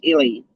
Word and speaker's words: illy: Spelled the same way, and it's pronounced Illy.